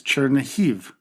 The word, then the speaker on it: Chernihiv: Our first stop is Chernihiv, a city that is in the northwestern part of Ukraine. It was previously known by its Russified name of Chernigov, but we will use its Ukrainian pronunciation.